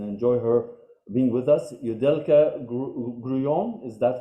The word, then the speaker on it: Yudelka Grullon: Yudelka Grullon, is that how you pronounce it?